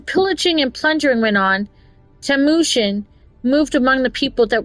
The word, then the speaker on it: Temujin: Temujin, that's how it's pronounced.